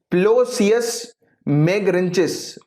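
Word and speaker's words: Ploceus megarhynchus: इसका scientific name है प्लोसियस मैगरेंचिस। मैं स्पेलिंग इसकी आपको बता देता हूं, PLOCEUS, प्लोसियस मैगरेंचिस, MEGARHYNCHUS, राइट।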